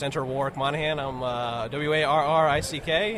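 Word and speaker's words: Warrick: n in other words your name is spelled how it's pronounced exactly not like Warwick everyone will say oh you Warwick uh no no Warick War Rick they're two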